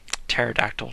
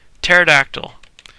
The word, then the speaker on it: pterodactyl: pterodactyl loose on them pterodactyl why do i keep trying to pronounce the p pterodactyl and that's how he